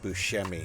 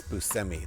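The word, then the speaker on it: Buscemi: And by the way, folks, that's how you pronounce it. I used to say Steve Bushi all the time, but it's Busmi.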